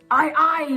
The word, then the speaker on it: aye: captain had to say, often they would say, Aye, matey, or aye, captain.